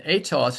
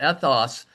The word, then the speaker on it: ethos: Now this is interesting with the long e that's with an ada. It means moral character and also related to custom but ethos is with a short e with an epsilon.